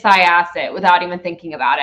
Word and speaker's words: Syosset: And even though Mike was not even in the room, I went, it's Syosset without even thinking about it.